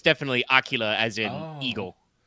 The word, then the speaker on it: Aquila: I thought it was aquala. I mean, I think you can say it both ways, but it's definitely Aquila as in eagle.